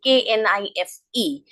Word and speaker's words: knife: For example, there will be some silent letters, like if I say KNIFE, so that is that K is silent here, so we pronounce it as knife.